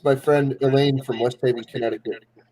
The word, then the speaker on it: West Haven: I love the ones who sit there and pronounce it like that. I always make fun of them. I don't know. You'll hear them sit there and call it Westaven, all in one word.